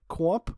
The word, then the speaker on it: Qomp: Well, Seth, the video game I've recently been playing is a game called, I believe it's pronounced like Qomp. It's spelled Qomp.